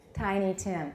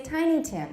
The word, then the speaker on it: Tiny Tim: and do we say tiny tim or tiny tin is it a compound or not no so how do we say it tiny tim that's right but the actress kept saying tiny tim oh howie's tiny tim